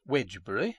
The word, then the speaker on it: Wednesbury: aid to the coal trade in heavy freights wednesbury pronounced wedge brewery and spelt whitner's berry in domesday book stands